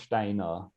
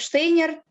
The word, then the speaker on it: Steiner: you will know this, that an S before T is pronounced as a sh, and you don't, even though it is rendered in what orthographically usually would be a s.